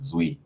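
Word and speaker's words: Duy: right now, is that people know it's pronounced Zui. It's a Vietnamese name, and so some of the letters they come out to different pronunciations. But yeah, we're gonna have a lot of calling people at the con, but it's Zui.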